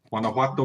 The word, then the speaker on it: Guanajuato: Guanajuato, Mexico.